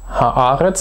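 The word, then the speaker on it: הארץ: wieder so ein Fall, wo der Ton auf der vorletzten Silbe liegt, weil Haaretz, auch das ist ein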